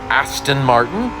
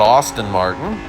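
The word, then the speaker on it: Aston Martin: of the British pronunciation ason Martin not Austin Martin all these things I've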